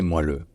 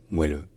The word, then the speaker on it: moelleux: l 14 15 16 le mot a fini par êt prononcé moile mais l'orthographe est resté la même donc on avait une